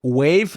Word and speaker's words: Wavve: or a clarification, because Wave, you're going to hear, if you're here with Baird and I, you're going to hear the word Wave quite a few times, and that is spelled WAVVE.